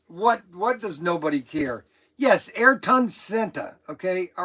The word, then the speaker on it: Ayrton: Okay, so Snuggles says I keep saying Arton Sienta. And so he sent me, I guess the correct way to pronounce it. Say Ayrton Sienta.